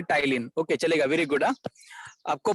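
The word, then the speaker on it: ptyalin: हाँ, उसे पी को हम प्रोनाउंस नहीं करते, जैसे कि न्यूमोनिया साइकोलॉजी में हम पी को प्रोनाउंस नहीं करते ना, उसी हाँ, प्रकार इसका नाम है टाइलिन।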